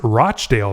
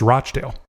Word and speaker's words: Rochdale: It's pronounced Rochdale, though, by the way, though the way you say it sounds much better." Again, I'm surprised by how a UK place name is pronounced. Not Rockdale, it's Rochdale.